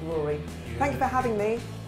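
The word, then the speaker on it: Raury: I just remembered somebody else who you should look out for, sorry, who's a guy called Rory, and his name is spelled R-A-U-R-Y, and he's American, and I interviewed him recently, and he's like Justin Timberlake and Pharrell Williams.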